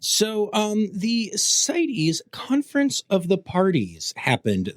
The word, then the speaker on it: CITES: and CITES, which is spelled like the word the cities, but without one of the I's, kind of like, it's the word sites. What am I doing? Like CITES, like in a paper. But anyway, it's not pronounced that way. It's CITES.